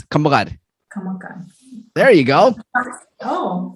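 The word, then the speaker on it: kammagar: It's kamagad.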